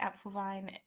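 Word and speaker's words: Apfelwein: a cartoon gift of something can I get app Vine uh it's not spelled like that no you can't get um it's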